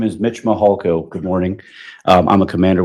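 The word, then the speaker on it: Mihalko: court reporter you bet my name is Mitch mahalko good morning I'm a commander with the El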